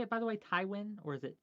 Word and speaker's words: Tywin: Tywin? Or is it T-Win? Or I don't know. Tywin. It's. Tywin. Okay. Have you seen Game of Thrones? Yes. Nice. Oh Tywin yeah, Lannister. that one. That guy. Tywin Lannister.